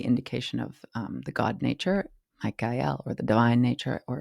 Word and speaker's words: Michael: time, the zeitgeist, is Michael. And it's pronounced that way in order to make it rhyme with the rest, and also to refer to the El, which is the indication